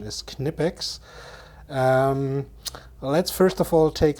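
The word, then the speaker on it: Knipex: it from German company kinetics or you might pronounce them my pecs but in fact the German pronunciation is kinetics let's first of all take a look at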